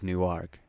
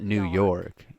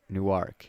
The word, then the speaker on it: Newark: Jersey nework newk but how you say it is nework yeah not new it's not New York you said New York it's nework Newark okay my bad New